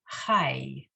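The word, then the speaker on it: חי: page, the double asterisk, when the yud follows either the batach or the kamatz, either ah sound, you pronounce it I. Okay. Okay, So it's haye, hayai. No, the first one is just chai, Hi. because you just have the chet with the ah under it and a yud following. So one syllable chai.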